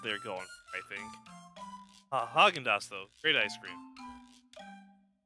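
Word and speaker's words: Häagen-Dazs: Argendosh? Easy to say. Oh, Haagen-Dazs. Why'd they spell it wrong?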